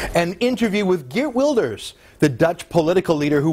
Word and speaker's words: Geert Wilders: Geert Wilders, or Geert Wilders as his name would be pronounced in his native Holland, is the most polarizing political figure in his country, and for good reason.